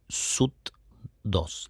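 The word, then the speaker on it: Soothe2: Hoy en 2026 sigue siendo bastante actual y poco comprendida por mucha gente, que es el famoso SUT2. Se escribe s o O t2.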